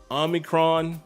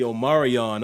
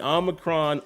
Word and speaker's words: Omicron: I know out there in the community, people are calling it the Omarion. I'm like, that is crazy. But the Omicron, I believe that's how you say it.